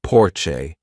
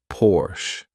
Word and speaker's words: Porsche: By the way, some Americans say Porsche, which I think is really wrong because the car is produced in Germany, and in Germany, you say Porsche.